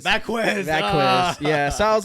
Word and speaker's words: Vazquez: Vazquez. Vazquez. Yeah. So I was like, it's fine. You know, he hasn't got time to pronounce a Z.